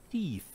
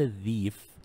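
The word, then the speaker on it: thief: تمام نفس الكلام ثا مثل كلمه ثيف ثيف. تمام ثيف بمعنى الحرامي او السارق. ثا ثيف ليس ذيف نو اتس ثيف ثا ساوند.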